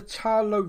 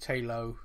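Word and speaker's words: Ta Lo: the idea behind the tarlow village and i'm probably saying that wrong talo i think is how they said it um me and you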